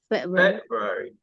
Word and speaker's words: February: second third or fourth February Fe Fe fair right February February it's in the first syllable and the last one